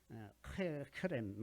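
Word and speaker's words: חרם: 여호수아서에 이제 오늘 우리 본문에서도 읽은 그 말씀 중에 헤렘이라는 히브리어가 있는데, 이게 이제 저주받은 물건 혹은 완전히 받쳐진 물건 이라는 뜻입니다. 헤렘이 이제 정확하게는 키에 가까운 크 발음이 들어가는 크렘 이런 거에 비슷합니다.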